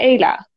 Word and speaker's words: Ayla: my name is pronounced so it's pronounced yeah Ayla that's my full name yeah okay and I